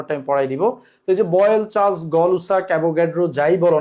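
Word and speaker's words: Gay-Lussac: আরেকবার দেখাই Boyle Charles গেলুসাক আসলে গেলুসাক না উনার একচুয়াল নাম হল গলুসাক উনার আসল নাম কি গলুসাক কিন্তু আমাদের হ্যা আমাদের বইতে জ্ঞান জানি গেলুসাক লিখা আই ডোন্ট নো এটার উচ্চারণ হল গলুসাক বলব আমরা গলুসাকের সূত্র সমন্বয়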